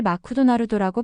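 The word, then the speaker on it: マクドナルド: 대표적인 예로 일본에서는 맥도날드를 마쿠도나루도라고 발음합니다. 원래 영어 단어에 없는 무음을 억지로 넣어서 일본어의 음절 구조에 맞추는 식인데 이것이 영어 발음을 이상하게 만드는 주된 이유라는 것을 알게 되었습니다. 영어의 믹소리는 짧고 간결하지만 일본어로는 마쿠라는 새 음절로 늘어나는 거죠.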